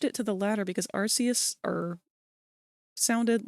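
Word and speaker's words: Arceus: I thought that it was Arus, but then we had that game come out and I think they pronounce it Archus like in the game.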